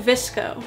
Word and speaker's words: VSCO: you want to go to visco which is spelled vsco it's a very popular